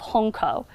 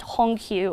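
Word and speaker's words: Hongkou: and bombed out District called Hong KO which is often pronounced Hong Kyu in testimonies in Hong Kong refugees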